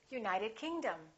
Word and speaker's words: United Kingdom: names of places if the place has two words we stress the second word for example South America we say South America United Kingdom we say say United Kingdom let's practice a few